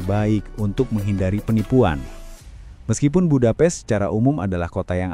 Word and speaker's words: Budapest: Budapest seharusnya diucapkan Budapest bukan bupates seperti kata bahasa Inggris untuk seranga dan jangan pernah mencampur adukannya dengan Bukarest ibu kota Rumania karena ini dapat menyinggung orang Hongaria.